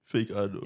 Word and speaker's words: FakeAno: and then now like on my bios, like I put the pronunciation like fake. No, you know. So now like yeah, FakeAno. but like in the start, everyone used to call me FakeAno.